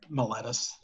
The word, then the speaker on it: Miletus: Is this what is the legal drinking age in Miletus? Oh, real quick, me and Coleman took a quiz on how to pronounce things. Oh yeah. Oh, Yes. It is Miletus.